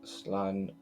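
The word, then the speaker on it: slán: A quick way of saying goodbye in Irish, a shortened version of Slan Abele, or safe journey home. One dialect would pronounce it Slan.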